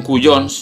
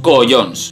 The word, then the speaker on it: collons: Que mientras los catalanes dicen cuyons, no sé dónde ven la U, nosotros decimos collons.